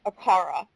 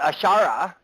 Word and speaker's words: Allfaaraa: But Allfaaraa, okay, might as well be Allfaaraa, okay, right? Right? Most angelic names are 3 syllables.